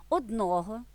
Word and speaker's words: одного: однак існує зверніть увагу наголос у непрямих відмінках числівника один припадає звичайно на закінчення одного одному на одній одним одних та у стійких сполученнях наголос переходить як правило на перший склад один одного один одному один одним один до одного тощо як правильно з